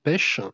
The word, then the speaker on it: Pex: The Remedy, c'est fait par un monsieur qui s'appelle Daniel Martin Pêche. Alors ça s'écrit Pex, mais il est espagnol, donc c'est Daniel Martin Pêche, qui n'est pas n'importe